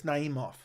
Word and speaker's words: Naimov: I forgot how to pronounce his name. Naimov? It's Naimov.